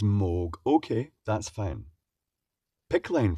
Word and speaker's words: Moog: It's pronounced Moog. Oh, right, so it wasn't Moog or Mog, it's Moog.